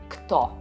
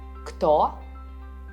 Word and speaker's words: кто: Who in Russian sounds as кто. What sounds as что. Pay attention. You spell it with a ch and you read it as что. Кто, что.